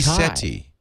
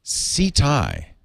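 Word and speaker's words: Tau Ceti: stars tau seti city i say seti i do too see thai okay it really hurts my ears every time you say seti okay sorry didn't mean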